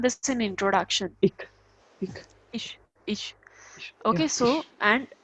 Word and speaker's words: ich: When it is only coming as CH, then it shouldn't be ick, the ka sound. No, it's not ich, it's ish. Actually, what German people does,